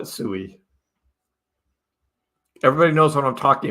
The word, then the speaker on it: Sui: main ones we're watching the founders of sui pronounce it s no one else gets it I I I won't be able to say sweet I just won't be able to do but I'll still call it sooie everybody knows what I'm